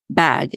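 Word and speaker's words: BHAG: came across Collins but he calls it bag it's and bag stands for what's it it's spelled b a BH a bag and it stands for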